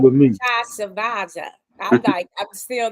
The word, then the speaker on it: Ben-Tchavtchavadze: It's Ben-Tchavtchavadze, just like it looks. what now? Ben-Tchavtchavadze, but is fine. Ben's fine. Yeah. Okay. So, all right with me. Ben-Tchavtchavadze.